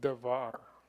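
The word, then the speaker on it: דבר: So it's just dachor It's davar. Davar. or davar. Yeah, Oh, it's a vet, dagesh. vet. Okay. Yeah, yeah. The dagesh does not get sounded. You're correct, Yeah. but it's davar.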